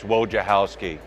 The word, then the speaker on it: Wojciechowski: It's Wojciechowski. It's like, where's your house key, but Woj on front.